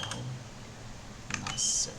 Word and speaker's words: Al Nassr: Então, entre aspas aqui, vírgula, e a equipe que ele está atualmente é eu vou só consultar que eu não lembro a pronúncia correta, é Al Nassr.